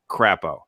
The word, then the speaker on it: Crapo: going to be crap, but also rhyme with the name of the state, Crapo, and he is the